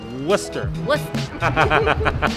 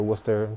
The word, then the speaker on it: Worcester: me graffiti mural street art it's all semantics pronounced worcester or like worcester i guess if you're from here worcester perfect perfect so tell me how a manhattan